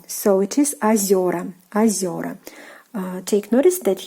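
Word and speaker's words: озёра: So the stress was on the first vowel O, озеро, but now it is on the second vowel Е, and Е, when it is stressed, it turns into Ё.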